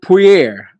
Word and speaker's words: Poirier: Dustin, the Diamond Poirier, I said it right that time, shocked the